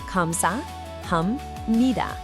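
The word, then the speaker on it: 감사합니다: Kam-sa-ham-ni-da.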